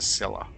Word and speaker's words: Scylla: At least now I know how to pronounce it. The Scylla.